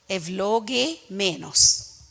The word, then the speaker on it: Evlogemenos: You have 4 notes, and then V, L-O, Evlo, then the next syllable, Ge, Me, Nos. Evlogemenos.